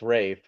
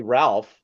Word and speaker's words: Ralph: or is that just as far as I know he's Rafe I haven't heard otherwise and uh that they haven't told me I get it wrong when I pronounce his name so unless I say Ralph then they would tell me but uh raef is